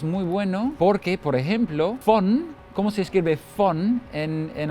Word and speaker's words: von: Exacto, o sea, V se pronuncia como una F, pero si eso no